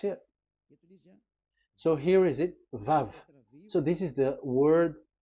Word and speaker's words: Vav: Vav. So it's V as in Vogue.